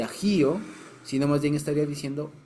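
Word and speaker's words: אח: se dice hermano en hebreo se llama a aj se dice hermano en hebreo y cuando aquí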